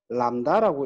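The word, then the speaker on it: λ: 그 다음에 파장은 우리가 이렇게 적어서 람다라고 읽어주고요.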